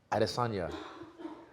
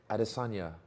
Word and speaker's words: Adesanya: When I was So- living in China, right, they really liked the way I pronounce my Mandarin because my language is tonal.